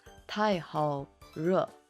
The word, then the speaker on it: 太好了: In Korean, it's easy to mispronounce it as 太好了 instead of the L sound. So the right pronunciation is 太好了 with a TH and an L instead of an R pronunciation.